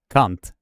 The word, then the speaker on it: kant: This word that is called edge is actually pronounced, brace yourself now, Fox 8 Ball, cunt. Cunt. That is the Swedish word for edge.